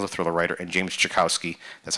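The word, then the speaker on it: Czajkowski: writer James Rollins the Thriller writer and James jakowski that's how you pronounce it the the veterinarian so schizophrenia sort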